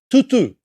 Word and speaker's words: tutu: The T is not pronounced like a European tea, as in cup of tea.